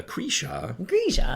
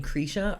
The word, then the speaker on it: Krisha: No, it rhymes with Trisha. Right, but what I'm saying is maybe the people who call me Krisha are saying it correctly, and my whole life I've just been saying...